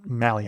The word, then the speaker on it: Mahle: Uh it's Mahle actually is how you pronounce it.